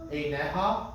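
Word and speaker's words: עיניה: Right, so Eineha, right? Just grammatically speaking, whenever you have eha or aha or echa, some of those, and there's a yud in there, the yud is silent, right?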